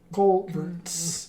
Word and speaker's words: culvert: this is the team yeah but it's weird you uh you culverts you have to force the t though it feels unnatural